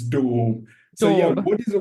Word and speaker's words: daub: So, it's dorb. It's a bit Yeah. So, do Okay, I will say it correctly. In Shakespearean English, maybe in British English, it's dorb.